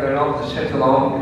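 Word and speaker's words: Renaud de Châtillon: Terus penjahatnya namanya Reynaud de Chatillon, bacanya Reynaud de Chatillon gitu ya.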